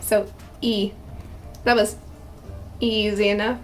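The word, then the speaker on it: ㅣ: and down and it's e it's pronounced e and they don't really have names they're just their pronunciation is the name of the vowel essentially so it's just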